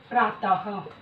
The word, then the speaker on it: प्रातः: विसर्ग का उच्चारण हा के रूप में किया जाता है। जैसे प्रातः।